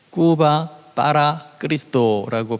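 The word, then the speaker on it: Cuba para Cristo: 쿠바를 그리스도께로, 쿠바 빠라 그리스도라고 발음합니다.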